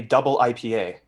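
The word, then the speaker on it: ダブル: here they know that it's a w but it's pronounced if you ever see it on a can of something in japan or a label it's double i i don't know why and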